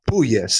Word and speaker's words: Puelles: might be Puelles, not Puelles. Yeah, so it is more of a poi than a poo. You're right. Claudio Puelles. I would check on Puelles.